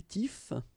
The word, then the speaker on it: tifs: The first option that we will have is les tifs. Les tifs. Okay, remember you don't pronounce the final S, les tifs.